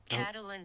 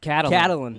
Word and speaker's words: Catelyn: Catelyn Stark. Catelyn. Whoa, hey, look at that, Catelyn.